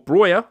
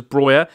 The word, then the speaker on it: Broja: human son Bruno Fernandez broja or broya I think it's brought I think you actually pronounce it as broyer he's got a very